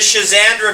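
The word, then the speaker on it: schizandra: my God you spell it's spelled differently s c h i z a n d r a is one spelling you'll find it if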